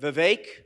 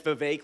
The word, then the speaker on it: Vivek: opportunity to meet with Vivek rhymes with Jake he always says it's Vivek like cake but friends of Jake